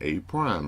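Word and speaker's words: A′: point A to point a prime remember that a with the apostrophe is pronounced a prime and point a is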